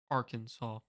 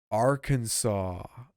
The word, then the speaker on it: Arkansas: While not technically illegal, this state has passed legislation discouraging incorrect pronunciation of its name. Better not try to pronounce this state's name phonetically or phonetically. The provision specifically states that the pronunciation with the accent on the second syllable with the sound of blank, blank, blank, blank, blank, blank is an innovation to be discouraged.